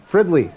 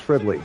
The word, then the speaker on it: Fridley: pronounce his last name fredley it's Fridley that's it oh no